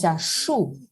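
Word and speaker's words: 树: Así que árbol, que se pronuncia shu en chino.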